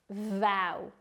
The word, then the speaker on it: vow: one to finish with vow pronounce it like vow rhyming with Wow vow is a noun